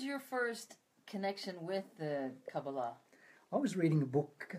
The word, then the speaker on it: Kabbalah: even get that name Kabbalah versus the what more typically people are pronouncing it well the most Hebrew words that are accented on the final syllable but most English words are not so it's just a